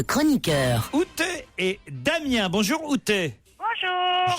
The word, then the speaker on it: Outé: Bonjour Outé. Bonjour. Je prononce bien. Ah, parfait. Outé, Parfait.